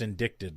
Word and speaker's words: indicted: very different if he's just indicted oh it's pronounced indicted by the way r kelly is found guilty